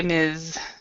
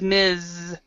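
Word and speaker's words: Ms.: the second one is Miz with an it kind of has a z sound Z and this F the third one is Miss okay I see thank you so it's Miz and miss so it's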